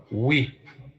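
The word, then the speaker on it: oui: you got that right yes in French is what we and you would hear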